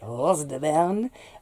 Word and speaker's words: Rose de Berne: But when I was planting the Amish paste and the Rose de Berne, I have to say it like that, Rose de Berne, oh, René, they both looked quite similar.